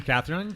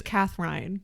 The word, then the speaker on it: Kathrein: do you pronounce it how do you really pronounce it it's cther rine cther rine German it is okay everyone thinks Catherine that's my first name